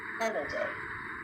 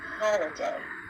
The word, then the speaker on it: holiday: might be to say holiday, holiday. In North American English, that O is actually pronounced holiday, holiday. The same sound that you hear in words like hot or obvious.